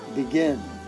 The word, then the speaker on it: begin: two syllables begin here how I say that begin tada begin you know that second syllable is stressed that is an I